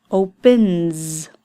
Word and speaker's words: opens: Opens. N is a voiced sound, so it's a Z ending at the end.